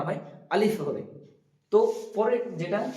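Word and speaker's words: ت: তা তা উচ্চারণ করার সময় দেখবো যে আমরা জিভেটা দুটো দাঁতের সামনের দাঁতের তলে চাপ খেয়ে উচ্চারিত হচ্ছে তা। উপরের দাঁত জিভের আগার উপরে চাপ লেগে তা উচ্চারণ হচ্ছে।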